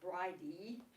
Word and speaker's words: Bride: Her name is Breed, and or in some places in Ireland, Bride, B-R-I-D-E, but I think that's pronounced Bridie, and that was 2 of her names.